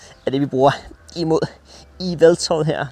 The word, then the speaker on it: Yveltal: det, vi bruger imod Eveltoad her. Så jeg skal udtale som dobbelt E i stedet for et Y. Ellers ville på engelsk ville dit Y hedde Y, og så ville det hedde Y-Veltal.